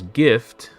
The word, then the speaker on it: GIF: The word is gift. Sorry, the word gift is the closest word to GIF, and it has a hard G. To pronounce GIF, just say gift without the T.